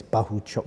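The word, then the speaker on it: Bakhodir: said uh Bahu chuk I got his name wrong last time but it's Bahu chuk his name he would stop him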